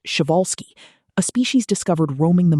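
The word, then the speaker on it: Przewalski: Instead, bow tie horses grouped closely with the Persolski's horse, pronounced shioalsski, a species discovered roaming the Mongolian step in the late 1870s and long considered the only truly wild horse.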